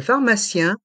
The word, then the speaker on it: pharmacien: mutuel prononçons le pharmacien la pharmacienne le Pharma tient la pharmacienne ici le P le H se prononce fe comme la lettre F et les lettres I